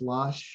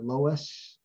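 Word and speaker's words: LOESS: called uh iowa this this word was called lush i don't know in math is this pronounced as losh or lois either way well we'll call it lush i guess just because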